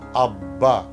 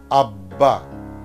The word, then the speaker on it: আব্বা: শব্দের মধ্যে কিংবা শেষে বয়ের সঙ্গে অথবা ময়ের সঙ্গে যদি ব যুক্ত হয় সেই বয়ের উচ্চারণ অবিকৃত থাকবে।